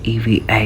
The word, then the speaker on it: EVA: tự động chuyển luôn Mà mình nghe tiếp viên đọc là Eva chứ không phải là Eva Mình vừa mới qua được